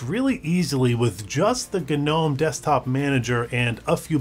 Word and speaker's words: GNOME: this as gnome you can refer to it as gnome if you want but for me I prefer gnome because it stands for